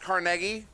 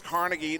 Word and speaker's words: Carnegie: way it is pronounced carnegie i know a lot of people like actually it's carnegie no that's your americanized version of a polish man's name carnegie i'm literally from